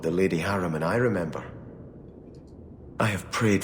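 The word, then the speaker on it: Harimann: these hair out hair I keep saying harrowmont but it's not harrowmont it's it's a harem an harem on I don't I'm just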